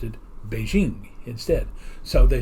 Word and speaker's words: Beijing: For example, before this switch over, the capital of China was called Peking.